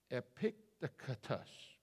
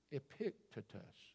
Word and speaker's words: Epictetus: looked at it I've I've spaced it out epictus Epictetus Epictetus that's it depicted us you ever heard of